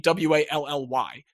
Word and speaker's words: Wali: know what I mean, W-A-L-L-Y. More often, and on his basketball reference page, it is spelled W-A-L-I. Still pronounced Wally, totally the same thing, so regardless of what